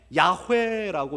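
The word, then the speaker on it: 야훼: 그래서 그때부터 아도나이라고 부르기 시작했어요.이 이 단어를 아도나이 아도나이와이 내 자음을 합쳐서 나중에 야회라고 읽기 시작했습니다. 그래서 여러분은 많이 들어보셨죠? 여호와를 야회라고 읽기 시작합니다. 그게 유대인들이 여호와를 발음하는 것이었습니다.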